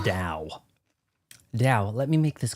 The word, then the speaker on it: Dao: It's Dao. It is not pronounced with a T.